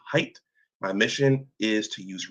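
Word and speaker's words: Haidt: My name is pronounced height.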